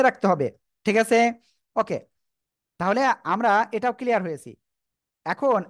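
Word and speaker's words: ت: শিখেছি সে অক্ষর হলো তা সে অক্ষর কি এটা তা কেমন উচ্চারণ হবে সবাই দেখেন আমার দিকে তা জিহ্বার আগা সামনের উপরে দুই দাঁতের গোড়ায় লাগান লাগান লাগান লাগিয়ে উচ্চারণ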